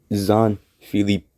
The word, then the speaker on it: Jean Philippe: So how it's truly pronounced is Zon Philippe, Jean Philippe, and his last name. At first, and his last name is Suzilovic. Suzanne Philippe Suzilovic. Based on the pronunciation guide.